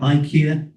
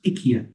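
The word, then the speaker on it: IKEA: many stores of Ika some people call it Ika but the correct pronunciation in Swedish is ikia and this is a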